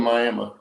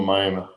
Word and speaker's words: Miami: on this roy oklahoma miami not miami miami miami that's how they say it up there yeah anyway yeah thanks